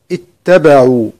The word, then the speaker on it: اتبعوا: الكلمة العاشرة كلمة اتبعوا وكلمة اتبعوا. سورة البقرة عند البدء باتبعوا نبدأ بها همزة مكسورة، نقول إي اتبعوا، وهمزة الوصل هذه عندما